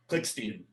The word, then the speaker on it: Klickstein: Klickstein. Okay, Klickstein, I'm sorry. It's okay. A lot of people mispronounce it.